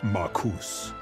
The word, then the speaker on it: Marus: done it without you my name is pronounced marus nice try th General Goldwin Lieutenant